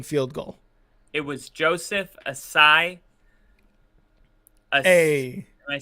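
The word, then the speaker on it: Ossai: up the game-winning field goal it was Joseph acai hey am I saying it right aside yep Joseph assai Joseph assai was the player that ruined the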